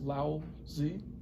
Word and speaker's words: Lao Tzu: His name is pronounced Lao Tzu.